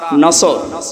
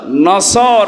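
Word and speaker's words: نصر: নিয়ে আমরা তাফসীরুল কোরআন মাহফিলে প্রবেশ করছি সূরা নসর কোন সূরা বলেন বলেন নসর না নাসর নুন সোয়াদ নাসরুন শব্দের শাব্দিক অর্থ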